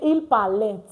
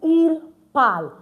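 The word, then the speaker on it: ils parlent: We don't pronounce the ent.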